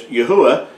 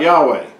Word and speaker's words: Yahuwah: sure that his name, the Creator's name, is pronounced as Yahuwah and not Yahweh.